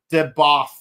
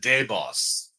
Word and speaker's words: Debath: Turns out it's spelled debath. Yeah, it's like Yeah. Well, some people said deboss or deboss, but turns out it's not boss, it's b. Yeah, with a th.